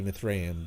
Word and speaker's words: Mithraeum: From his far-off sanctum deep within the Mithraeum, I think it's supposed to be Mithraeum, but this is pronounced E, not A.